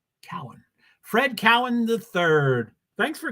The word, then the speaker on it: Cohen: say your name wrong my last name is pronounced Cowan just like that Cohen is spelled c-o-h-e-n Cohen Cowan just FYI thanks Fred I'm sorry I I should know it after 12 years Cowan Cowan Fred Cowan III